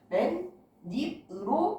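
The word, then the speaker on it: 맨입: 그런 경우에 여기 중간에 니은이 플러스 된다. 그래서 맨, 닙으로 발음이 된다는 얘기.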